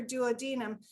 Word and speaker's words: duodenum: And in the first 3 seconds, in such a meek, mild voice, she just said, "It's my duodenum." And I know that some people pronounce it duodenum, but that's how she pronounced it to me.